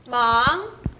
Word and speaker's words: 忙: 이성이니까 忙. 忙. 忙. 忙. 네. 忙. 좋습니다. 더 올려보십시오. 忙. 忙. 네, 忙. 忙. 발음이 나지 않았어요. 忙. 忙. 네. 그 발음이 나줘야 됩니다. 망. 네, 인지 발음이 약해요.